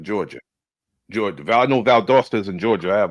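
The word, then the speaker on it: Valdosta: Vald Dosta. Like Vald Dosta, Georgia. Georgia. Val. I know. Vald Dosta is in Georgia.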